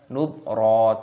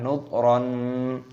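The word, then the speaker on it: نذرا: Ro-nya ini berharokat fathah tanwin, ada tanda alifnya, dibaca mad iwad, kita baca nudra, jangan nudron.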